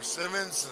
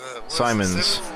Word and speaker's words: Simons: See Dave Simons or Simmons? Simons. He said it rhymes with diamonds.